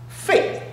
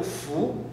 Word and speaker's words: 芾: 这个两个读音，一个呢读肺，就是这个肺，肺这样，还有一个读福两个读音福。